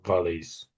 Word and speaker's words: valleys: Um I think your valleys I think the I think the V in the valleys was a bit like like a Wallallys. I think it was I think it was valleys.